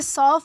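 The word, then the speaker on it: suave: दोस्तों इसे सौफ प्रोनाउंस किया जाता है जिसका मतलब होता है मिलनसार या फिर आकर्षक।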